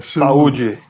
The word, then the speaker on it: saúde: You say Saúde.